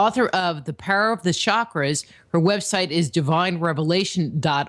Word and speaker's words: chakra: are Shakra is okay uh the word is pronounced chakra and that word is a Sanskrit word comes